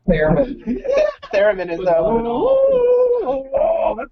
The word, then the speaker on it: Theremin: Piano, Thurman. keyboard, something like Thurman that. all the way. What is that? Theremin? I'll tell you when you're older. Theremin. It's pronounced Theremin.